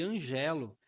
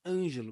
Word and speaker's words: Ângelo: Eu brincava chamando ele de Angelo, mas não é, é Ângelo, mesmo não tendo acento.